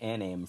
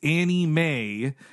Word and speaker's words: anime: mean a name then I started calling it a name for like the longest time anime I think I didn't learn that until wizard magazine said like it's it's ant it's Annie Mae and it's pronounced manga like conga that's how